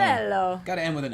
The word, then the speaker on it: Manganiello: bigger career than Manganiello. Manganiello. Manganiello. I've heard people pronounce it with the hard G too, mean- like it's Manganiello. I think. I don't know. I think it's Super. the soft Manganiello.